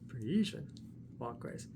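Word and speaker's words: Parisienne Walkways: You say it like this. Parisian walkways.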